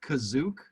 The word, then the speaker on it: Kashyyyk: way revenge of the sith used paintings of kashish from this yeah can we talk about that because i've i've heard that it's supposed to be uh pronounced kazook very spelled kashyyyk i mean if you spell